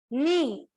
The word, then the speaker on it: knee: तो here K is silent.